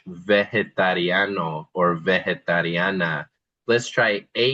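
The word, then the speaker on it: vegetariano: But then as we go down to vegetarian, that g is soft. Again, there's really no rule for knowing when the g sounds like a hard g like vegano versus this word which sounds more like an h.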